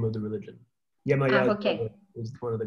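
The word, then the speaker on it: Yemayá: I think, if my pronunciation is correct, is Yemaya? Is it Yemaya? Yeah, Yemaya.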